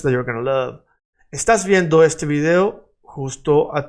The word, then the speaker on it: estás: And remember that estás has this little tilde, this little line accent on the A. Because the accent is on the second syllable to the right.